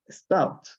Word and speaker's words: stopped: Stopped. Acá tampoco se pronuncia la E.